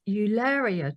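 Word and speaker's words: Eularia: the funny thing is everyone was like how do we pronounce it how is it jari or is it ulia and actually I think it was decided that it was ulia to like rhyme with malaria and I'm sticking to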